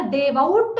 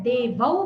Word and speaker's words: देवौ: तो हमने देवा को क्या जोड़ा, आउट जोड़ा, पर देवआउट नहीं पढ़ते, ट निकल जाता है, देवौ बचता है, तो देवौ ही पढ़ेंगे।